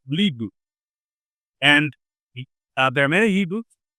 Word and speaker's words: Lie: So it may spell lie but yeah you phonetically you say uh it's a lieu and there are many